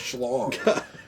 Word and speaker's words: Schlong: You'd think it says C long, but that's actually pronounced Schlong.